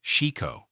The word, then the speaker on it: shiko: This movement is called shiko, pronounced shiko, and it's the stability exercise that's been hiding in plain sight for 7 centuries.